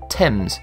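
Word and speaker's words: Thames: The spelling remained but the pronunciation did not change. Therefore, the right way to say it is temps.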